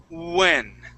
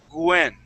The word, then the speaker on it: when: Okay, so with those W words, think of an oo sound instead of a W. Okay, and you'll be able to pronounce that. It's the same in Spanish. Sometimes people who speak Spanish, they pronounce that W as a G and they say Gwen.